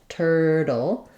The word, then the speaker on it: turtle: for that first syllable and then turle we use that flap T and cabic L combination so if I were to rewrite that I would write it like tur D basically no vowel there because I'm moving qu directly from my flap T into my cabic L dull dull just a light little touch with barely any vowel if there were any